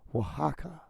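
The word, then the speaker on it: Oaxaca: It's called Tacos Wajaka. And Wajaka is spelled a little weird. You end up seeing the title. When I say it's spelled weird, it's just weird compared to how you pronounce it.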